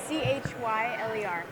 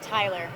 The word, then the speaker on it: Chyler: things are always like breakneck pace, craziness, but Chyler, like Chyler. how many times do Killer, people Cheryl, mispronounce all that? the time. All the time? And when I introduce myself, for the most part, it's Tyler.